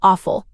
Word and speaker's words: offal: The guts are called offal, but it's spelled O-F-F-A-L, even though it sounds phonetically like offal.